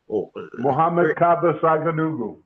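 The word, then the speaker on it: Muhammad Kaba Saghanughu: give the name of the slave let me pronounce it properly Muhammad Kaba Saganugu.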